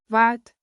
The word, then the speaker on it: wat: Break it down. Wat like what. Plus kos like cost. Now Wat kos?